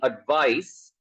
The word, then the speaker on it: advice: when it is TE advice it ends with s sound it should be advice